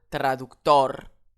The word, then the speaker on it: traductor: Ici, j'ai le mot qui se termine par une consonne. Ce n'est pas un N, ce n'est pas un S. Je n'ai pas d'accent écrit. Je vais donc je vais donc prononcer ce mot traductor. Le mot s'accentuera sur le haut final.